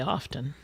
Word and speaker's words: often: that's the way I learned it with a silent T. Yeah, I must admit, I usually say often too. So, but I do know people that say often. Yeah, I I think most often people. say often.